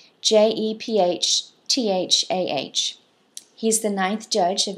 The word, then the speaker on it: Jephthah: another son of Gideon, and his name is pronounced Jephthah, Jephthah.